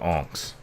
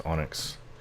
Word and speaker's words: onyx: Used to call it onx. I think it's onyx.